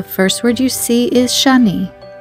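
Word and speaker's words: שני: The first word you see is Shani. It's the word for scarlet, as in the scarlet thread. It is spelled with the following letters of Sheen, Nun, and Yud. Shani.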